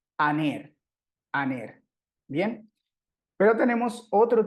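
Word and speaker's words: ἀνήρ: palabra, y dice que ese espíritu suave, o también se le conoce como espíritu débil, no se pronuncia, o sea, simplemente aquí leeríamos la vocal sin problema. Aner, aner.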